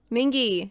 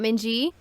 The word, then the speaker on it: Mingi: It's a hard G. Mingi, not Minji.